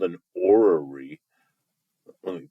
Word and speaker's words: orrery: This is a picture of what's called an orrery. Let me pronounce that again, just to make sure that you guys hear that.